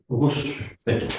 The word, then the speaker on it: reçu: a on a si pourquoi pour éviter le pour ne pas dire recul on a ajouté un se C pour qu'on puisse le prononcer reçu bravo euh l'adjectif qualificatif